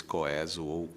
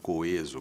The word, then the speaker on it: coeso: sei o quê mas o povo nunca entrou na onda do coeso e felizmente os dicionários se renderam e hoje indicam as duas pronúncias como perfeitamente possíveis coeso coeso coeso é sem dúvida